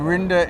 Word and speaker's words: Rynda: And Rynda is pronounced like Linda, but spelled R-Y-N-D-A.